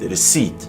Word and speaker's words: receipt: It boldly says nothing in core and coup and receipt.